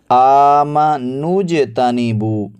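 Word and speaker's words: آمَنُوا اجْتَنِبُوا: سی دقت ہوتی ہے۔ آمنوجتنبو، حمزہ کھڑا زبر آ، میم زبر ما، آم، نون پیش جیم نوج، نون کو جیم کے ساتھ ملائیں گے، نون کے بعد جو واو ہے، الف ہے، اور پھر آگے جو الف آ رہا ہے ان کو ادا نہیں کریں گے، ان کو نہیں پڑھیں گے۔ آمنوجتنبو، آمنوجتنبو۔ اس کے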